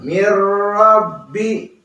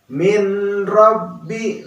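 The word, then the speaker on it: مِن رَبِّ: tanpa ada dengungnya Hai Jadi dibacanya Miro big.the Miro be Jangan pernah dibaca mint Robby Nah itu salah ya apalagi Ming didengungkan yaitu Salaf Hai tetapi yang tepat Miro Be Ya Robbi Nah itu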